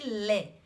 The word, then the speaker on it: les: eu falei da pronúncia eu já não disse mais eu disse lé como a gente não pronuncia as consoantes finais Então tem que fazer